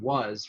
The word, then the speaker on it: was: And you think about the word was, where you have W-A-S, but it really is pronounced more like W-U-Z.